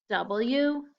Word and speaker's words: was: The A is the tricky part, so we have to memorize the vowel. Let's do the same thing. Let's go ahead and close our eyes and spell it. W-A-S, was.